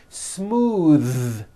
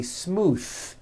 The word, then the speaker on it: smooth: And now at the ends of words, smooth. Believe it or not, the th sound in smooth is voiced. Most foreign speakers say this word incorrectly. They say smooth with an unvoiced th, but it's voiced.